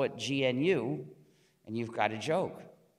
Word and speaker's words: GNU: But it still is GNU, so be careful to pronounce the name GNU and avoid the various erroneous pronunciations such as new and Linux.